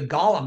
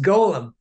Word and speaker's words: Golem: of the I was actually calling it The Gollum and then everyone kept saying to me no that's from Lord of the Rings like it's pronounced Golem I mean like almost everything else about Judaism